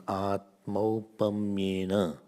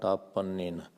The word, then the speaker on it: आत्मौपम्येन: Still some are not able to pronounce. Atmaupamyena. Say. Atmaupamyena. Not apannena. This is Atmaupamyena.